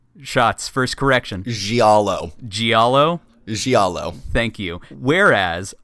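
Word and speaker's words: giallo: got it right that time that was it gialo blood soaked Screamfest like Clock Tower Silent Hill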